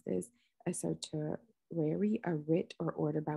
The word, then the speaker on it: certiorari: So we know how to pronounce things correctly. Certiorari. Certiorari.